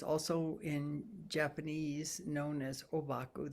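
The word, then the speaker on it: Ōbaku: in japanese known as obaku that's the japanese pronunciation of his his chinese characters he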